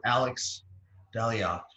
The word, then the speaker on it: Alex Dalyac: smartest friends and we have the pleasure of alex daliot is that the correct pronunciation alex it is hello so much for